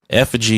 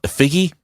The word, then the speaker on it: effigy: It's pronounced effigy. Yeah, it's definitely effigy. I wanted to call it a figgy.